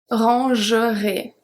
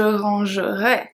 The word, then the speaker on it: rangerai: this one, is that some people will pronounce je rangerai as je rangerai, which is very hard because then it's the pronunciation of the conditionnel. We are going to see that in 2 days. The correct pronunciation, the pronunciation from the IPA, there is no really correct pronunciation, there's just different pronunciation. The pronunciation from the IPA, from the International Phonetic Alphabet, is supposed to be E.